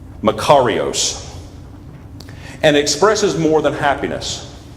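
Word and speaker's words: μακάριος: The Greek word is makaros. No, I'm not saying it right. Makarios.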